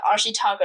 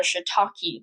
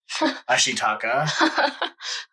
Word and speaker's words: Ashitaka: I gotta really rub it in, because you called Ashitaka shiitake, and I will never let that go. Well, there's a mushroom. Shiitake. I don't know. I had it in my head. Japanese shiitake, ashitake, ashitaka, patsu, shida, patsu.